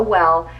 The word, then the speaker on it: W3LL: This is by the brand Well People. It's spelled W3LL, and this is their Bio Brightener Invisible Powder.